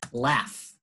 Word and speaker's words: laugh: Otro ejemplo es en la palabra laugh, como reír. Laugh, right? So cough, laugh, ejemplos de palabras en que GH es una F.